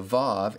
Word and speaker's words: vav: Finally, with regard to the consonant that we call wow, in modern Hebrew, it's called a vav and pronounced like the V in vine.